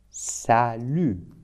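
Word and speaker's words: salut: Karim for example hello it's in French sal it's important to know that in French many consonant when we write at the end of the word we don't pronounce we write sal with t but we don't pronounce t so salar later if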